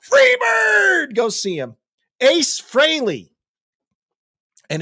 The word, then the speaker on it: Frehley: Ace Frehley. And it is pronounced Frehley, not Freely. I grew up calling him Ace Frehley.